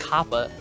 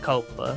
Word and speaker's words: Kappa: It's pronounced Kappa. There are 2 P's in there. Okay. There's not 2 O's. So I felt kind of Kappa. stupid for calling it Copa.